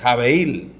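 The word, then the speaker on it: הֶבֶל: Y Abel es jabeil en hebreo.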